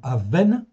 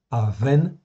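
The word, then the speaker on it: אָוֶן: Ces deux mots, c'est très proche, mais ils s'écrivent pas du tout pareil. Okay, ça se prononce presque pareil, okay, d'où la confusion, mais ça ne s'écrit pas de la même manière.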